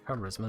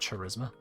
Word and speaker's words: charisma: It's charisma, not charisma.